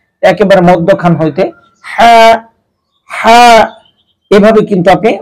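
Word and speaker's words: ح: এটা হচ্ছে কণ্ঠনালীর মধ্যখান হইতে উচ্চারণ করতে হবে, একেবারে ভিতর থেকে, একেবারে মধ্যখান হইতে হা হা, এভাবে কিন্তু আপনি উচ্চারণ করবেন।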